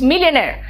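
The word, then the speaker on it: millionaire: इट्स मिलियनेयर। और R last का, मैंने क्या कहा था, लास्ट में R आता तो थोड़ा साइलेंट हो जाता है ना, थोड़ा सा वो सॉफ्ट हो जाता है।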